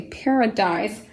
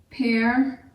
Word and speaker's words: paradise: Paradise is how many syllables? Paradise. It's 3 syllables. We'll break it up here, separating the by itself. That A is a syllable by itself, very much like parable, paradise. And guess what else? The A has been schwad to the short U sound.